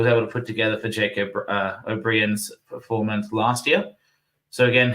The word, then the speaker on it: O'Brien: So it's pronounced like the name Brian.